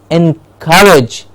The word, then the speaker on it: encourage: yes next one is encourage car gets the stress and courage yes encourage car gets